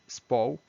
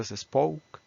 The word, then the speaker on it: spoke: ya viendo la pronunciación aquí No hay ninguna ninguna e porque hay muchas personas que piensan que aquí hay una e aquí piensan que hay una e entonces empiezan con es spoke es Es es